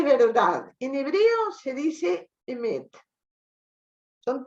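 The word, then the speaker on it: אמת: En hebreo se dice emet.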